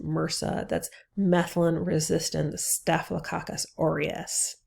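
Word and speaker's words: MRSA: um so we're going to talk about um Mera and that's how this word is pronounced Mera that's methylin resistant stakus orus so let's let's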